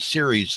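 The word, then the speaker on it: Ceres: support on this from a an organization called series that we've talked about which is in boston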